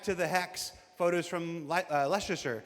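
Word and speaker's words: Leicester: Uh straight out of Klesher back to the hex photos from Lesser. How do you say? Is that Lester? Lester.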